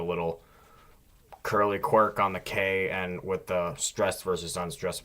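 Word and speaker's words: к: Next is ka, and this looks like a K, sounds like a K. It does differ a little in the way it's written. It's got kind of that curly edge you'll see in printed text, but it's a K.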